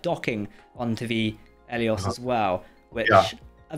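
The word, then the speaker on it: Eleos: Federation ship that she's the Elos or Elos, isn't it? How do you pronounce it? The Elios.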